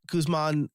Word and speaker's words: Guzman: Guzman, transparent.